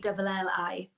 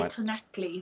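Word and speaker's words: Llanelli: It's Lanelli. So most people say Clonecley. That's how most people manage to get the word out.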